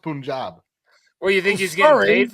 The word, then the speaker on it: Punjab: understand this is amazing sorry it's Punjab that's it's pronounced Punjab well you think he's